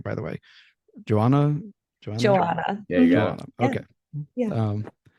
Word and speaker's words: Johanna: Uh, I want to make sure I'm pronouncing your name correctly, by the way. Joanna Joanna.